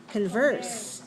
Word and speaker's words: converse: look at my vowel look at my vowel in the first sentence can can is it is this is it a clear vowel or is it a weak vowel Converse it's a weak file so make your mouth